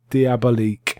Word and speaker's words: Diabolik: As I say, Danger Diabolique, and it's spelled Diabolik.